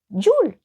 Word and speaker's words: Jul: Dans les pays nordiques, on dit encore Jul ou Yule, voilà comment on veut le prononcer, pour désigner Noël.